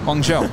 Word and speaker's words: Guangzhou: Guangzhou. Isn't that weird? Yeah. Guangzhou.